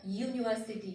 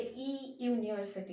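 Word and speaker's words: university: इसके प्रोनाउंसिएशन देखो, यूनिवर्सिटी, इट्स अ यूनिवर्सिटी, मतलब वाई से प्रोनाउंस हो रहा है ये, right, यूनिवर्सिटी, इट्स नॉट ई यूनिवर्सिटी, इट्स यूनिवर्सिटी। Uniform मतलब वाई से शुरू हुआ, यूनिफॉर्म।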